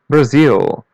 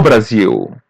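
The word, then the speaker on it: Brasil: Here I would say Brazil. Listen and repeat. Brazil. Brazil. It almost has the same pronunciation, but we pronounce letter L as W bar.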